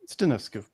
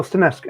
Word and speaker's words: Stanescu: Is that how you pronounce the surname? Stanescu. Oh, Stanescu.